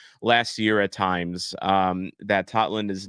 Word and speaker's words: Totland: I called him Totland last year. I thought it was because of that's a lot of Norwegians. They pronounce the O, like the actual O. But no, apparently it is Tomas Totland.